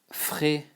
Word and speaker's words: fraisier: We call it, we call it fraisier. Fraisier, you know, like the A and I is E, frais, like exactly like if it was written like this, it's the same, frais.